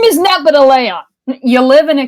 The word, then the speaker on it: Nepeta: Nepeta. People say Nepeta. Nepeta. Yeah. Nepeta, And what's the Leon. second name? Nepeta sounds like Geppetto from Pinocchio.